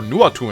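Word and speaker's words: Nóatún: Yeah, I kept, I did, like, refine her Noatun Axe. Or Nuatun, I actually know how it's pronounced now because I have an Icelandic friend.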